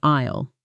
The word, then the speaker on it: aisle: This word looks strange because the S is silent. You say it like isle.